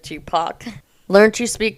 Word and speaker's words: Tupac: Two-pack instead of Tupac.